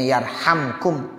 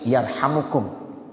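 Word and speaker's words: يرحمكم: sama ada yang bacanya yarhamkum Man sama ada yang bacanya yarhamukum manisama tapi yang bagus yarhamukum kalau imam nawawi dalam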